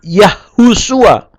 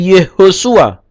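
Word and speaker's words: יהושע: Tidak Yahusua, tapi Yehosua.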